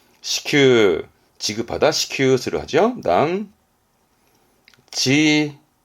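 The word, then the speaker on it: 支給: 발음은 시큐, 시큐, 지급하다, 시큐스를 하죠.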